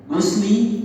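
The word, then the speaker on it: غُسْلِ: Gusli, gusla atau guslu? Yang benar adalah gusli.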